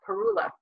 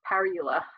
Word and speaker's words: parula: And parula or parula, different pronunciation, but all of these nest in our area.